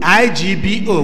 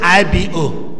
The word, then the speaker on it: Igbo: He is an Igbo Igbo, I G B O. We call it Igbo, but the English pronunciation says I B O.